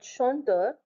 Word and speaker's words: chanteur: Now let's look at over here at chanteur. Chant is one syllable and ter is your next syllable.